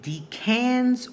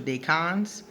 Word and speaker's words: decans: going to talk about D Cannes or D cons in astrology now it depends on who pronounces it if they say D Cannes or day cons so I guess we